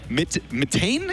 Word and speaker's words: Mitane: players are, between Taz, Mitane is the correct way to say that, and then Impact. We had to find that out just 5 seconds ago. We're what is it? Matane?